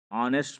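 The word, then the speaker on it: honest: आते हैं my uncle is, जो मेरे अंकल है ये ऑनेस्ट मैन है, अब ये ऑनेस्ट है, ऑनेस्ट, ऑनेस्ट आ है तो एन लगा हुआ, ऑनेस्ट, राइट।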